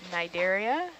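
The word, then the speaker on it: Cnidaria: instance corals would be under the nigeria with a silent c at the beginning of that word some of the sponges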